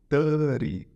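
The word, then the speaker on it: thirty: O 30, a mesma coisa. Como se esse T aqui ele fosse mudo. Ficando 30.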